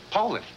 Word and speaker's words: Poulan: a dealer that sells Poulan. Poulan. That's what I said, Poulan. You You said Poland? Ask them. Poland. No matter how you say it, the name means quality.